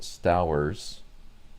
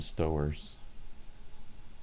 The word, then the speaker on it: Stowers: Apparently his name is pronounced Stowers. I was calling him Stowers.